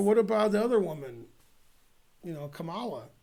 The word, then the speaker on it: Kamala: Kamala. That rhymes with Hala.